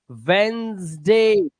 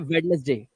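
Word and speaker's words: Wednesday: ये ऐसे है देखो, वेंसडे, वेंसडे, वेंसडे। बस इतना पढ़ो इसे, वेंसडे, ठीक है, ना कि वेडनेसडे, वेंसडे।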